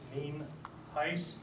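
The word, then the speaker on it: Nienhuis: Uh for the record, for those of you who are videotaping, my name is Sheriff Ninheis. It's pronounced mean heist and it's spelled N I E N H U I S and I am the sheriff from Fernando County.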